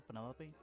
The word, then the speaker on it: Penelope: Is that short for Penelope? Officially, yes, but I never can be bothered with all 4 syllables of it.